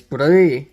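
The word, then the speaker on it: bruith: With that said, there's one of the words in Irish Gaelic is Bree, and Bree is spelled B-R-U-I-T-H. Bree. Which sounds a lot like Bridget.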